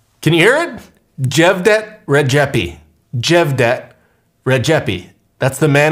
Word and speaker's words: Xhevdet Rexhepi: Xhevdet Rexhepi. Xhevdet Rexhepi. Can you hear it? Xhevdet Rexhepi.